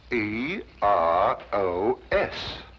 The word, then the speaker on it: Eros: She added an H where there shouldn't have been one. What? Then spell it as she spelled it, but without the H. E R O S Precisely.